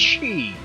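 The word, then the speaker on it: sidhe: and it's like S-I-D-H-E, and they're like, it's pronounced she. Like, you must be high or something. And so I looked it up, and sure enough, I've been pronouncing it wrong this whole time. See, Irish cat she or Irish fairy cat, right?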